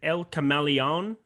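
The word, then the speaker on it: El Camaleón: a little bit more uh what is it el cameleon uh did i say that correctly okay cool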